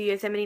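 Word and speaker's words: Yosemite: um amy has the suggestion of going to use M&E national park that is how you pronounce right from there they just you know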